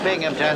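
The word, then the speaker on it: Binghamton: That's a Bingington. There's no P in that. The accent is on the Bing.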